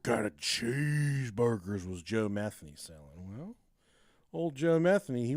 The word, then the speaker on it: Metheny: It's It's Metheny. The one of the Yeah, Metheny. But I I wanted to I wanted to pronounce it Metheny.